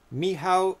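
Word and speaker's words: Michał: last squadron by janice oh here comes the pronunciations okay last squadron by yanush hubus hubovsky and mihao spielovsky nice i would have never ever thought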